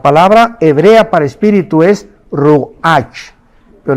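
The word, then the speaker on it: רוח: hebrea para espíritu es Roach pero la ch en hebreo se pronuncia como J es rugajá como j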